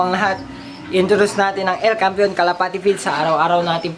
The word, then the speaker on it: El Campeon: And then El Campeon, El Campeon Pigeon Feeds, yun ang tamang pronunciation mga kalapati.